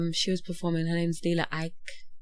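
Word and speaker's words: Lila Iké: Her name's Leela Ike. Leela Ike, yeah. Ike? Yeah. Ike. We get her name wrong as well.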